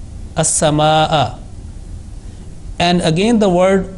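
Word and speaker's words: السماء: So this word is not complete without pronouncing Hamza with Fatha. As-sama'a.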